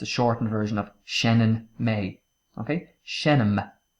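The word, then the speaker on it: seinneann: Can also be pronounced as shinen, depending on what dialect you speak.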